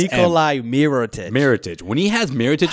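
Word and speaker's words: Mirotić: I thought it was No, it's Nikolai Mirotic.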